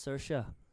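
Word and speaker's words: Saoirse: completely different way yeah it's s a o i r s e so see so I I would go like s but it's Sara Sara the tongue Sara s yeah the Irish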